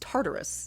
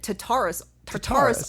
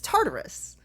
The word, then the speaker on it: Tartarus: beyond hell well i know it's also correctly pronounced tartarus oh thank you tartarus no no no they called it tatarus taurus on the show but it's tartarus i don't know is it i wrote antarctica